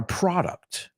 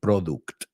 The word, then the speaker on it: product: And he's talking about a product. Cuidado con la pronunciación. He oído mucha gente decir product. It's product.